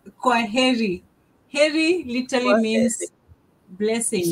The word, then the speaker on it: heri: Heri literally means You blessings.